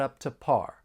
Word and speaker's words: up to par: the the food was up to par when pronouncing this idiom again you're going to hear me pronounce the final T and not as a flap T and then I'm going